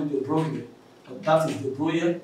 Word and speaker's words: De Broglie: wave particle paradox, whereby you say this man's De Broglie, people like to call it De Broglie, but that is De Broglie, it's a pronunciation of a name, whereby he said that